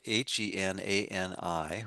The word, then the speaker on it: Henani: Um so, the the first poem of the morning is Henani, here I am in parentheses. And that's spelled h e n a n i.